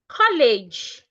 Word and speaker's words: college: We still have the word college. College. College. And not college. The first letter E in that word makes the A sound.